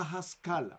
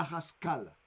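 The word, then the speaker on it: Haskalah: La Haskala, la voy a pronunciar, la voy a deletrear. L-A-H-A-S-K-A-L-A. La Haskala.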